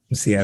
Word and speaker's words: Msia: But but at the same time, like hearing you, Msia, talk about like, did I say your name correctly? Mm-hmm. Msia, okay. Yeah, very few West Africans actually say it properly.